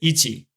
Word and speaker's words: 一: the case of numbers the chinese pronunciation is more often used so if you want to count in japanese you would say ichi as an et me